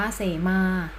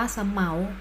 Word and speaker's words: เสมา: ม.ค หัว ข้อ ๗ สระ เอ สอ เสือ มอ ม้า สระ อา อ่าน ว่า เสมา หมาย ถึง เครื่อง หมาย บอก อาณาเขต โบสถ์ หรือ อ่าน ว่า สะ เหมา หมาย ถึง และ พันธุ์